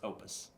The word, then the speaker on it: Oupes: Next up, we got Oupes. It's pronounced Opus.